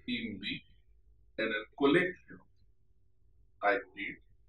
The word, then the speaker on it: hindi: with E or HI, because H is silent in Spanish. Let us see some examples. Estudio español e hindi en el colegio.